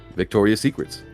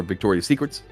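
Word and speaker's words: Victoria's Secret: that's up 13.5% today Victoria Secrets high of the day 657 uh 6561 is the high of the day for Victoria Secrets why do I keep saying Secrets it's Victoria Secret say it right ticker symbol nrx p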